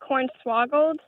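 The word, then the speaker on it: cornswaggled: l e d interesting are you saying corn swaggle or corn swaggle we say it like corn swoggled corn swoggled okay this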